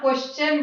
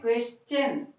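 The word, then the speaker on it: question: यहाँ क्वेश्चन बोल देते हैं लेकिन सही प्रोनाउंसिएशन है क्वेश्चन, चा का साउंड आना चाहिए।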